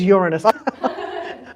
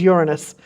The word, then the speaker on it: Uranus: And it is definitely pronounced Uranus? It is Uranus. I tell the children here, I make them learn it. So I do tell them to pronounce it. It is Uranus.